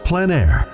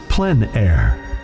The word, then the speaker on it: plein air: of outdoor painting, called plein air. The French coined the term, which means open air or outdoors. The French pronounce it plein air. Others say plein air. No matter how you say it, there is a